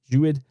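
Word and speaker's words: Jeudy: Jewett.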